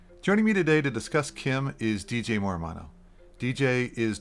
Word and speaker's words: CIEM: by its acronym cem which is pronounced Kim by the way just to make sure that you're paying attention joining me today to discuss Kim is DJ Morano DJ